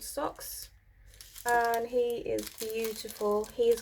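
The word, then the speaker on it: Sox: I've got a black cat called Socks.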